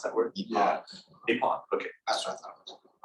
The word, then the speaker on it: epoch: Is it called epic? Is that how you pronounce that word? Yeah. Epoch.